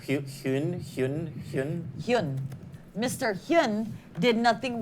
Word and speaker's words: Huynh: Huynh.